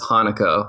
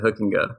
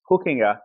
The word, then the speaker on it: Hoekenga: But yeah, you nailed it, Hoekenga. So excellent work. Thank you. Because you got on your website how to pronounce it, and you say it's Hoekenga, like hooking a fish.